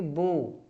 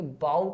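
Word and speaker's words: bow: धनुष ठीक है लेकिन अगर आप इसको आप पढ़ेंगे बाऊ पढ़ेंगे बाऊ बाऊ ठीक है या छोटे आ जाएगा बाऊ अगर आप पढ़ रहे हैं तो इसका मतलब क्या हो जाएगा झुकना जैसे आप बोलते हैं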